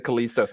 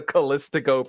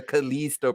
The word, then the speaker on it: Callisto: The Callisto protocol, which is, again, like no one pronounces it Callisto. The only one who does it worse is Wings, who calls it the Callistico protocol.